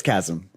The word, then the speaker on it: chasm: you pronounce km yeah I want to say it's Chasm you this the the H is silent c hm yeah yeah